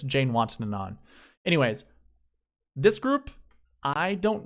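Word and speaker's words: Janewattananond: Yes, I know how to pronounce the name. Jazz Jane We'll just call him that. But it's Jane Watson and on.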